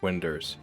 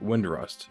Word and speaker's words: Windurst: for 6 years and I never knew that winders was pronounced as winders for 6 years nobody has corrected me when I called it wind rust so you're going to